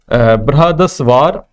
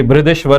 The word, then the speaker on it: बृहदेश्वर: तो इसमें है ए ऑप्शन महाबलीपुरम, दूसरा है बृहदस्वार, ठीक है, या बृहदेश्वर जिसे कह सकते हैं आप, ठीक है, थोड़ा सा स्पेलिंग इसी गलत है यहाँ पर, ये बृहदेश्वर है। सी है कैलाशनाथ टेम्पल और डी है पुरी, ठीक है।